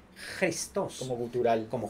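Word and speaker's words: Χριστός: escribe Cristo o sea Cristo en griego no se dice Cristo sino se dice cristos como cutural como J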